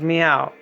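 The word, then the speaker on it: Miau: book is called meow and yes it is pronounced like a cast as meow and basically it's a very uh it's a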